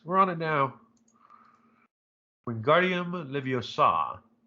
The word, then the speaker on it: Leviosa: Wingardium Leviosa. It's Leviosa, not Leviosa.